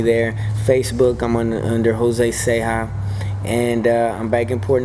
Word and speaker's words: Ceja: Facebook, I'm under Jose Seha, and I'm back in Port Neches teaching. Awesome. Awesome. And just get Seha in touch spelled with me. C-E-J-A. CEJA. That's right. Yeah, Seha man.